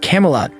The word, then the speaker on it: Camelot: resolve but tells him it's pronounced Camelot not Camy whatever Percy said Percy remembers